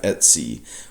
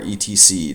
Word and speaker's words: etc: Right here we have etc or etc, depending on how you want to pronounce it.